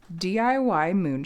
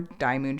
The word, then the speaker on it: DIYMoon: The shop is DIY Moon Shop, or Die Moon Shop. Different people, myself included, pronounce it different ways.